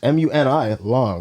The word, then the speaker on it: Muni Long: Money Long. Is that how you say it? Money Long? It's Mooney or Money Long? I don't know. Wait, that's her name? It's MUNI Long.